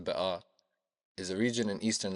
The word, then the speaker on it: Bekaa: The Bekaa Valley, which in Lebanese Arabic is pronounced Bekaa, is a region in eastern Lebanon that stretches from the Litani River to the Syrian border.